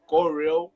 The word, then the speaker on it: Go Real: I was like, okay, Go Real. Yeah, like Gorilla, like that. But like the pronunciation is still the same. It's like Gorilla Photography or Gorilla Studios, right?